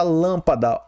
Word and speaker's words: lâmpada: Lâmpada está aqui na antepenúltima sílaba forte. Então, ela é o que? Uma proparoxítona. Proparoxítona, né?